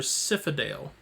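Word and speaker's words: Sifadael: a e l torodale and his twin brother syphadale which is s-i-f-a-d-a-e-l both of them Moon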